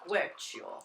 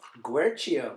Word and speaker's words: Guercio: If you want to be, it's an Italian name. If you want to be really Italian, it's pronounced as Guercio. Guercio.